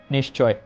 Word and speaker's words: নিশ্চয়: বিসর্গের পরবর্তীতে আমরা তালব্য শেষ উচ্চারণ করবো। সেক্ষেত্রে মেন যে শব্দটার দ্বারা উচ্চারণ ক্ষেত্রে সেটা হয় নিশ্চয়।